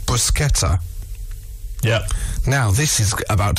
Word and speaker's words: bruschetta: going to say how what you ended up pronouncing briquetta missing out the s it's pronounced bruschetta yeah now this is about to blow your